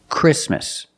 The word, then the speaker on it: Christmas: between consonants examples exactly Christmas we see the t is between consonants so we don't pronounce it you don't say exactly